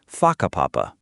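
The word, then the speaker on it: Whakapapa: You'll hear locals casually talking about places like haka papapa, pronounced faka papapa.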